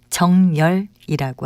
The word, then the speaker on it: 정열: 그리고 발음할 때는 두 번째 음절에 니은을 첨가해서 정열이라고 합니다.